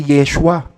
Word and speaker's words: Yeshua: Hebrew manuscript wala non ang tunay na bigkas doon ay Yeshua at walang masamang i-translate